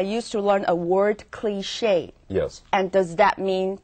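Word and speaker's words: cliché: interesting anymore it's boring in fact the word cliche is French it's spelled c l i c h e and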